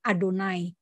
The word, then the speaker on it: Adonai: Yang dibacanya tulisannya YHWH, tetapi orang Yahudi tidak akan membaca YHWH karena mereka tidak boleh mengucapkan nama kudus, sehingga diganti pengucapannya menjadi Adonai.